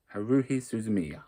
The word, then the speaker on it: Haruhi Suzumiya: suzumi I can never say her name right Haruhi Suzumiya there we go um there's the front probably